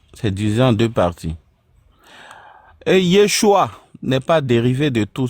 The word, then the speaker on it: Yeshua: Maintenant, si on parle de transitération, Yoshua ou Yeshua qui comporte trois syllabes ne peut pas donner Yesou qui comporte deux syllabes.